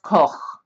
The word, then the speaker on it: Koch: he's from Germany and his name is Robert Koch if you were German it's pronounced Cole right so that it would be the university